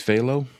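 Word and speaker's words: Fahlo: It's Phthalo. Fa How do you spell that? F A F A L O F A I L O. It's like follow f a h l o.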